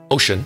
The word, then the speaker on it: Wouxun: wilkson kg 805g and works in is pronounced ocean is made by speck